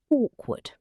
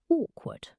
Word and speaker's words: awkward: Pronunciation two syllables awkward. The first sound awk is like the bird sound or the word law. awk ward Stress on the first. awkward Mhm.